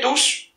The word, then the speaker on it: tous: Tout est pronom indéfini, et fait tous au masculin pluriel, et le S qui est là, il se prononce.